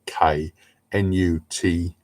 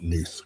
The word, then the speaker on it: Knuth: Surname spelled capital K Nuth. It's pronounced Knuth, right? Not Knuth, Knuth.